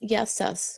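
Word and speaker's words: Γεια σας: Oh, I can speak a little bit more, but it's In Greek, it's yassas, which is hello, everyone.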